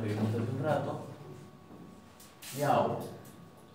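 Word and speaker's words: já: Yau. Yau, no vamos a decir ja.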